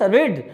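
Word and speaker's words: read: और इसके बाद पढ़ना की इंग्लिश रीड, और रीड का तीनों फॉर्म रीड, स्पेलिंग आर-ई-ए-डी आर-ई-ए-डी आर-ई-ए-डी आर-ई-ए-डी चलती है, रीड रेड रीड, लेकिन उसको पढ़ा क्या जाता है रीड रेड रीड।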